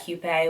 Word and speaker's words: Hupe: to do the same his last name is French so I'm still probably mispronouncing it but he told me that Hugh Pei was okay but he has a